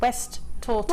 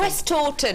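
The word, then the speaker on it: Westhoughton: And this is from Sara, and she's West Houghton, there we go. She's even West Taunton. West Taunton. She's even put the pronunciation.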